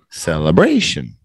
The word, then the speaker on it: celebration: Celebration.